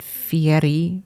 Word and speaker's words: Fieri: name correctly yes but he pronounces it Fieri with like rolling the r like the Italian pronunciation and everybody who loves